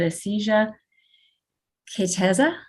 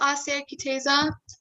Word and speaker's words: Asia Kitaza: saying this correctly but aesthesia que tesa que tesa hi it's asia kitaza go ahead i'm sorry i just mispronounced your name it's okay thank you